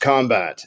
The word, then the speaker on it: Combat: people that are listening it's combat with a c it's not a fancy crazy no you know everything in our industry is like it's it's p RT but it's pronounced combat no it's it's with